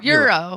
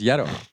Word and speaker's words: euro: Euro. Euro. I I thought it was Yetto.